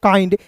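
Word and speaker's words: kind: के आई एन डी इसे पढ़ेंगे दोस्तों काइंड इसे किंड क्यों नहीं पढ़ेंगे क्योंकि एक-एक स्पेलिंग रूल्स बताऊंगा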